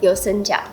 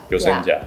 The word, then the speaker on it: Yoseka: And the pronunciation is Yoseka. Yoseka. Yoseka.